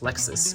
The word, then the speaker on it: LXS: LXS, pronounced Lexus, stands for Last Extended Slot, and solves the last three pieces of F2L.